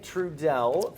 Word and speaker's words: Truesdell: And we're joined now by Elaine Trudell from Live Arts Toledo.